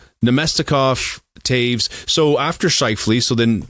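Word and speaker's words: Toews: Is it toes? Jonathan Taves. Yeah Taves. Thank you.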